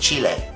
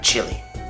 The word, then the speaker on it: Chile: Just remember it's pronounced "Chile," not "Chili."